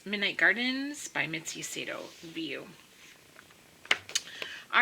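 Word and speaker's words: Wiuff: name is spelled w-i-u-f-f but um it is pronounced view because she said that somewhere I can't remember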